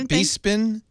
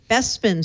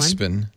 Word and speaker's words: Bespin: through this with Brad it's not it's not bepin it's not bepin that's how I've been pronouncing that's the English word that's the English version of it bespin sorry everyone bespin like dust besin how am I